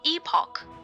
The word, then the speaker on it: epoch: complete research order complete research order complete it's pronounced epoch by the way best b to the nav